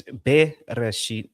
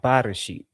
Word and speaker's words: Bereshit: That it's beresheet, not barasheet.